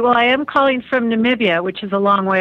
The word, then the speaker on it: Namibia: Namibia. So it's a lot of people have a hard time pronouncing it. Namibia. Oh, with a V. And Namibia, yes, with a B.